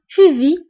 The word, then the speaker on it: vis: alors بالنسبة لجو في كتكون مكتوبة ب إس ولكن إس ما كنطقوهاش كنقولو فقط جو في إس ما كنقراوهاش. tu vis أيضا إس ما كنطقوهاش. il vit ما كنطقوش تي كنقولو فقط في.